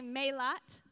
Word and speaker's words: Mélat: So could y'all do me a favor and say Mélat?